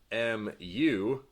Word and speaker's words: mu: For instance, mu, which is pronounced mu, will denote the population mean.